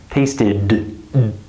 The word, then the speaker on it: tasted: Here, there is d. Tasted, I'm activating my vocal cords. Here, I'm not. So listen again. Taste it, tasted. Do you hear that vocal cord activation?